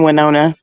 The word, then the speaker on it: Winona: department and I said I'm so happy that we moved to wona she oh no no no no that's not how you say it there's 656 people I think in Winona Texas and I said it wrong and she corrected me